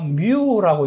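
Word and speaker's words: μ: 자, 그러면 여기에서 요것을 우리가 뭐라고 읽는가 하면 우리가 뮤라고 읽어요. 뮤.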